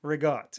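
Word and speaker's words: ricotta: Regott. So, you cut it off at the end. There's no A. You put a G in there for whatever reason. And that's what you say.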